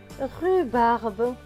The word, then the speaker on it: rhubarbe: Plus loin, R avec le H et le U. Cela donne R et U, rue, puisque le H ne se prononce pas.